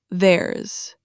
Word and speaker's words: theirs: The long possessive forms, yours, hers, ours, theirs, all end with a Z sound, not an S sound, a Z. yours, hers, ours, theirs That voiced Z at